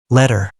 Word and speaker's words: letter: When t comes between two vowels, Americans pronounce it like a d.